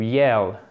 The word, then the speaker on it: yell: Une dernière chose que je voulais vous préciser, faites bien attention à la prononciation, c'est to yell, d'accord? C'est « comme un E accent grave si je schématise.